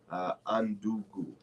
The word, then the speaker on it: Undugu: The spelling is UNDUGU. Undungu.